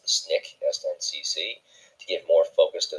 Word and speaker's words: SNCC: In April 1960, the Southern Black students formed the Student Nonviolent Coordinating Committee, which is pronounced the SNCC, to give more focus to their efforts.